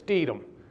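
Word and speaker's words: Stethem: to ship the USS steedom it's not spelled like it's pronounced it's s-t-e-t-h-e-m it was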